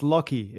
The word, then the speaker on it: Lachy: Lachy? Yeah, pretty close. So it's Lachy. It's Lachy. A weird Australian name. It's spelt strange.